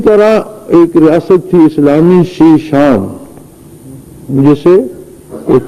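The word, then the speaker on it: Chechnya: اسی طرح ایک ریاست تھی اسلامی شیشان، جسے وہ چچنیاں لکھتے پڑھتے ہیں انگریزی میں. چچنیا اس کا اصل تلفظ نہیں ہے، اصل تلفظ شیشان ہے۔ اسلامی ریاست تھی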